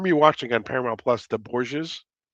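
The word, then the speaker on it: Borgias: I'm re-watching on Paramount Plus the Boures. It's It's about spell that, Paul.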